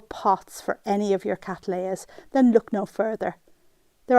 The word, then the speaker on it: Cattleya: The genus is correctly pronounced as Cattleya, as I'm regularly reminded in my comment section.